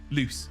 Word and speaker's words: Luce: True is L-U-C-E, loose. It's a name. Loose has given you a fact. False is L-O-O-S-E, like moose, but loose, right?